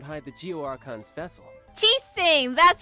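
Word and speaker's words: Qixing: ches Singh would hide the Geo archon's vessel ches Singh that's how you say its name so where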